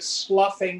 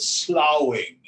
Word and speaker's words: sloughing: so it's funny in in american english we talk about the snake sloughing off its skin swamiji used to call it slowing same thing s-l-o-u-g-h or s-l-u-f-f they actually spell it differently so the metaphor is